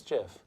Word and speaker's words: GIF: Yeah, it's Jif. I know it's GIF because I'm stupid and I listened to the creator who said it's pronounced Exactly.